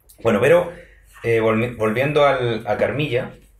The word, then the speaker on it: Carmilla: uno que se llama carmilla Supongo que se puede pronunciar carmila también de Joseph cheridan le fanu